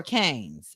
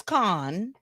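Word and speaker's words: Cannes: Do you guys call it Con or Canes? It's Con. The S is silent.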